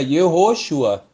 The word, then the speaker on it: Yehoshua: Todos os nomes teofóricos que têm o nome de Deus no início é pronunciado sempre Yehô. Por exemplo, Josué, Yehoshua.